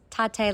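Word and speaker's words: Tatte: Uh and it's Tatate like latte.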